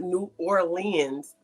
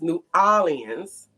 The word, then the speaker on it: New Orleans: He told me that I was saying it wrong. He said it was not New Orleans, it was New Orleans, and that I was saying it wrong.